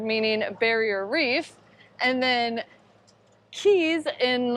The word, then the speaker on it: cay: It's always like so anxiety inducing for us, like how to pronounce it, even though we now know that they're all pronounced key.